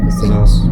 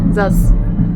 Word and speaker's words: Zaz: Zaz. Zaz.